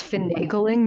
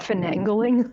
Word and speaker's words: finagling: tell you rashy that it's finagling not fangling Inspiration Point to Emily